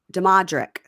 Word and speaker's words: Damodrick: Damodrick? No, see, there's no N. So it's Damo. Damodrick.